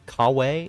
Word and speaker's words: Kyawei: um kiw k k kawe is how um they pronounce it in the English version Ka kaway um I